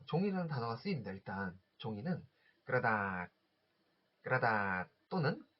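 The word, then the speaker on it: กระดาษ: 일단 종이는 그라다, 그라다 또는 여기 러 발음이 묵혀가지고 까닥, 까다처럼도 들리실 텐데요.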